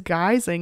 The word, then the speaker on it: guising: exists notice known as geysing in Scotland pronounced like disguising which is fun because